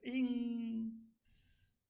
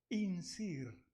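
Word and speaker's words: инжир: Y más o menos se pronuncia insir. Ya, le quité. Insir.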